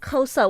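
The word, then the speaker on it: Xhosa: a good thing like kosa with a click okay with a oh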